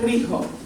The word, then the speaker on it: Rijo: Io sono Rijo, e Rijo si scrive così, come vedete qua in questo poster. Che si pronuncia? Si pronuncia Rijo. Come? Spagnolo, castigliano.